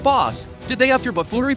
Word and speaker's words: Bas: It's pronounced Bas.